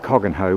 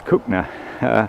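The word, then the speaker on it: Cogenhoe: the river and we're approaching uh this is cook no lock you might pronounce it coggin hoe but as locals cookner that's the preferred way of pronouncing the village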